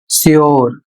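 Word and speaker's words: sure: इसमें नियम है जब किसी शब्द में यू के बाद आर ई आता है तो वहां पर यू का जो उच्चारण है वह यो जाता है।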